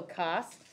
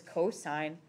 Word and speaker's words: cosine: shorter it's not also cost isn't even the right sound at the beginning of that word it's cosine cos maybe but also it's just